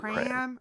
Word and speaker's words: pram: Oh, so thank you, pram. Christine. It is pram. Rhymes with tram.